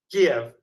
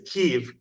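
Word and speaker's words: Kyiv: K right you know the old way of saying it was Kev and now the new modern Ukrainian way is keev and I go back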